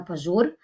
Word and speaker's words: Pažur: Fresco uh already said my name is and it's pronounced pure actually also people in